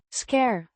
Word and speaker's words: scheur: pronounced as previously explained noun meaning crack or tear pronounced scare similar to scur with a short u sound it refers to the damage found in Preposition meaning in, pronounced in.